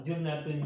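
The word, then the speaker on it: جُنَّة: Nah, ini contoh tiga kata yang sama hurufnya, hanya satu perbedaan harokat di huruf pertama, junnatun, jannatun, dan jinnatun, tapi maknanya beda.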